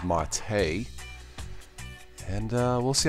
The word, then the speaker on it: MATE: Linux Mint 19 MIDI mate or it's pronounced Marte and we'll see how